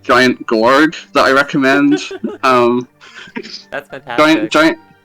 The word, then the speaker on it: Gorg: It's just Gorg. Like George, but with okay.